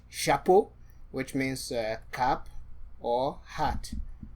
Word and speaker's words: chapeau: Chapeau, which means cap or hat. Le chapeau. You can see we're beginning already to combine these things. Shi, a, p, o. So to transcribe phonetically, sha, p, chapeau.